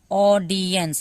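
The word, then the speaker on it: audience: द ऑडियंस, ऑडियंस का मतलब होता है दर्शक, ऑडियंस देखिए AUODIDENCENS, ऑडियंस, लास्ट में तो ई का कोई उच्चारण ही नहीं होगा, सौ तक उच्चारण है।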